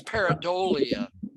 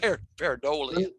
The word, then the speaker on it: pareidolia: And that's pareidolia, Jeremiah. But is that how it's pronounced? Pareidolia.